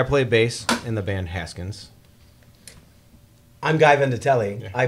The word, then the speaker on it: Haskins: It's pronounced Haskins.